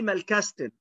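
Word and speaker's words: Malkasten: طيب صندوق التلوين زي العلبة اللي قدامك دي اسمها مالكاستن. الناس اللي مصممة تتجاهل الخمس حروف اللي أنا قلت عليهم بتقول لي مالكاستن، مالكاستن إزاي وهي ما مال كا كاس تن.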